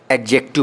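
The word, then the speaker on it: adjective: इसको एडजेक्टिव नहीं पढ़ते हैं क्योंकि ए और जे के बीच में जो डी आता है वो साइलेंट रहता है। तो इसको हम लोग हमेशा एडजेक्टिव पढ़ते हैं।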